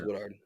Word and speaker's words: Woodard: Yeah, just this episode he was perfect as Henry as well as Sam Kvon Woodard. I'm I'm hope it is Woodard. You're doing good. I hope I'm pronouncing that right.